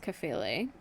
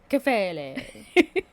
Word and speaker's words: Kephalē: in this, again, the Greek word here is Kephalē. Nice pronunciation. Thank you. It's like you listened to a video right before we started shooting. Well, I listened to you the whole time we were. Kephalē.